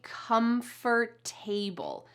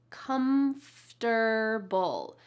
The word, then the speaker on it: comfortable: It looks like the word table in this word, right? But we don't say comfortable. Instead, we reduce the sounds and say comfortable.